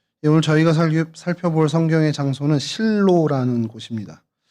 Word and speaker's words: 실로: 오늘 저희가 살펴볼 성경의 장소는 실로라는 곳입니다. 히브리어 발음도 쉬로 쉬로 요렇게 좀 바람이 되고요.